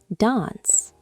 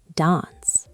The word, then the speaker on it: dance: Dance, right? The A sound is long. Dance. Yes. In British English, it is dance. Now, Americans say dance. The A is short.